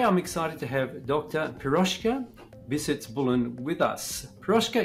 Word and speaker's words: Piroska: last one was Yan GOI H piroska okay piroska piroska today I'm excited to have piroska visits